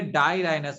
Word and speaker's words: dirhinous: और जो नेथोस्टोमेटा होते हैं, जिसे हम नेथा कह रहे हैं, ये डाईराइनस होता है, DIRHYNOUS।